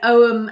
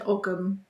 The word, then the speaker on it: Ogham: It's pronounced both ways, isn't it? Ogham and Ogham.